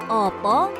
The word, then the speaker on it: apa: Opo itu seharusnya ditulis apa? Menggunakan huruf A yang pengucapannya agak ke O.